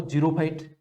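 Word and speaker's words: xerophyte: ठीक है, स्पेलिंग इसकी XEROPHITE इस प्रकार से, तो उसका प्रोनाउंसिएशन जो होता है वो जीरोफाइट वनस्पति पाई जाती है।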